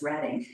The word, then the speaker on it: Reading: Oh, it's Reading, Pennsylvania. It most certainly is. And Reading Railroad. I got into a lot of fights as a child. The correct pronunciation of the Railroad. They all know now that it's Reading.